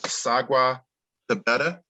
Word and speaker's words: Sagwa Tabeta: And our next panelist that rounds everything out is Sagwa Tabeta. Did I pronounce that right? Correct.